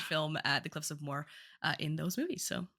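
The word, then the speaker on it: Moher: I've seen before uh The Cliffs of Moore maybe you've heard of them before uh not spelled like that they m o h e r they're in a lot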